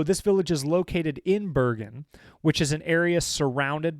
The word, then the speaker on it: Bergen: Is that how you pronounce like what I would read as Bergen? Like Bergen? No, Bergen is Bergen.